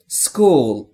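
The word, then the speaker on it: school: پس دقت بکنید تلفظ درست مدرسه در انگلیسی میشه اسکول و زمانی که میخوایم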